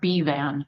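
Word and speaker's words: Bevan: It's pronounced B-van.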